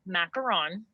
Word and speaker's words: macaron: proper way okay here's here's what i say okay so it is macaron okay uh like you're saying ron from harry potter at the end